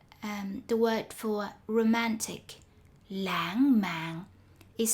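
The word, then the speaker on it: lãng mạn: the word for romantic langman is spelled wrong the second syllable although pronounced as an ng should be spelled with an n words with i are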